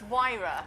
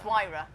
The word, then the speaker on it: Huayra: It's Huayra. I don't know how to spell it.